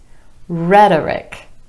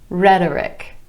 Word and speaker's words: rhetoric: We have politics, politics, rhetoric, rhetoric, Arabic, Arabic, and lunatic, lunatic. In each of these examples, the stress falls on the first syllable in the word instead of the syllable right before the ik ending.